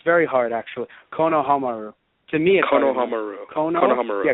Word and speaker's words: Konohamaru: saying you shouldn't say any negative comments about Konohamaru you need you can only mention nice things